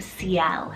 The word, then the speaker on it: Ciel: names that was sent in is the name ciel it's called c-i-e-l-c-l and this one's french rooted